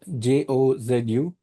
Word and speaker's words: Jozu: That's Ju.